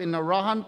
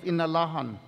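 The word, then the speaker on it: Inalåhan: renaming of our village from the western pronunciation of in iran to his indigenous and traditional name of inalahan guahu si kenneth p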